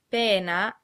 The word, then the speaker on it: pena: The words pena and penna are pronounced exactly the same, except that pena has one N, a short N sound, and penna has two N's, a long N sound.